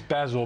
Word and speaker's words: Basel: term, but when you talk about the new Basel III regulations and APRA's view... people think it's Basel, but you pronounce it properly.